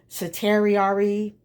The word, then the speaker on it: certiorari: Les Jones filed a petition for, it's pronounced Certiorari, cannot pronounce it, to the Supreme Court.